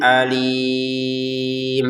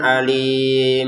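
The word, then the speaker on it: أليم: Jadi jangan dibaca bi'adzabin alim. Nah, ini kok dibaca dengan dengung atau samar? Gak boleh. Ini jelas ini ya. Untuk kata alim menggunakan hamzah ini, jangan pakai ain.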